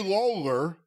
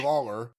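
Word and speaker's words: Lowler: And the photos here, Gary Lawler, it's spelled L O W L E R, but that's Gary Lawler dressed like Jerry Lawler with the little beard and the the entire look.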